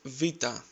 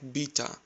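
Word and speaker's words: βήτα: Next is vita. You must have heard it like beta or beta. Replace the letter B with V and try to say vita, vita.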